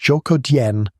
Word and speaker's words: Zhoukoudian: The site is called Zhoukoudian, pronounced Zhoukoudian, on a hill outside Beijing that locals had been calling Dragon Bone Hill for generations.